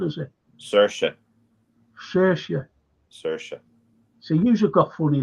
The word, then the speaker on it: Saoirse: I could never, ever pronounce her name. Saoirse, is it? Saoirse.